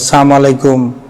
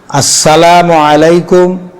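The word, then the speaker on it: السلام عليكم: আসসালামু আলাইকুম আসসালামু আলাইকুম মানে লামটা উচ্চারণ করে আসসালামু আলাইকুম এরকম এ একজন এ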